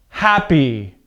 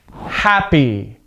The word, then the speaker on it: happy: Two-syllable adjectives, like two-syllable nouns, the rule is the same. The stress is at the beginning of the word, okay? Happy, ugly, perfect, broken, early, okay?